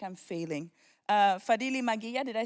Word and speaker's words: Fadhili Maghiya: Fadili Magia, did I say it right, your last name?